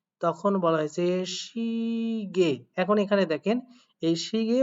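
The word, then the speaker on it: 시계: করে দেখেন, শি গিয়ে, তাহলে এটা উচ্চারণ করতে পারেন শি গি এ, অথবা শুধুমাত্র শিগে। আমি একটু আগে বললাম যদি আপনারা দেখেন ইয়ে, তাহলে সেটাকে শুধুমাত্র একার হিসাবে উচ্চারণ করতে পারেন। শুধুমাত্র কি হিসাবে? শুধুমাত্র একার হিসাবে উচ্চারণ করতে পারেন। তো সেই অনুযায়ী এটা শুধুমাত্র শিগে পড়লে হবে।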